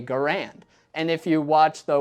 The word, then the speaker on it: Garand: that does not mean that's the only correct way to say the name of this rifle because that's just not how words work let me explain during World War II if you asked a US Soldier what the name of this rifle was he'd probably say Garand and if you asked